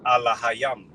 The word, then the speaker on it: Elohim: Then it says Allahayam, you know, with the right pronunciation, which is plural, which means gods, angels.